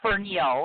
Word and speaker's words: Fernihough: First of all, I had to look up on his Facebook page how to pronounce his last name. That's kind of gay, I know, but it's Fernihough, and I think I got that right because